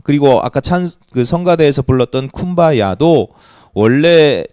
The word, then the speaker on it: 쿰바야: 아프리카 흑인들이 미국 발음을 했는데, 그러니까 미국식 영어를 발음을 했는데 발음이 잘 안 돼요. 그래서 된 발음이 쿰바야이고 원래 의미는 come by here, 여기 오시옵소서 이런 뜻이. come by here가 here이 이 흑인식 발음으로 쿰바야가 된 거예요.